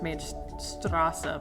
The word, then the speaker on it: Mainstrasse: and about mainstrasse um it should be said uh pronounced made strassa but i don't know how we dropped the e at the end for some reason like not how it's spelled it's still spelled strassa with the e but i don't know